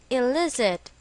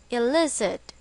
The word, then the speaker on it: elicit: it is pronounced as Eliz it with the stress on the second syllable Eliz it examples she elicited anger